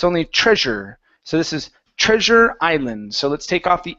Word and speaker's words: Treasure Island: treasure so this is Treasure Island so let's take off the h instead of Highland it's Treasure Island try that treasure Highland